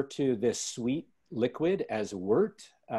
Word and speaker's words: wort: boil we refer to this sweet liquid as worked it's spelled wort but it's pronounced worked or vert and so what we're gonna do is boil